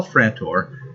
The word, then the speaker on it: Frantor: Aghast, Karl Frantor," rhymes with Trantor, I wonder, coincidence? "Karl Frantor pleaded for a retreat.